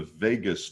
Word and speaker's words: vagus: through something called the vagus nerve. It's pronounced like Las Vegas.